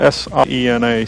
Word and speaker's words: Siena: That's spelled S-I-E-N-A, Siena.